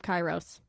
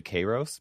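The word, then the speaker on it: καιρός: The ancient Greek word is actually Kairos, but I didn't like that, and Kairos I didn't know. Cool. I didn't know how to pronounce it. But the Greek people in my YouTube comment section have pointed out very intensely that I say it wrong. Apparently, I say Kairos, which is current Greek for weather.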